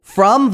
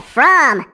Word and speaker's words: from: You said from. It looks like it should be from with a short O. That's right, Chip. I forgot to tell you that F R O N is one of those special words that you just have to memorize.